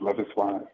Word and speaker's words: Loveis Wise: Is that, do you pronounce the name Loveis Wise? Yes, their name is pronounced Loveis Wise.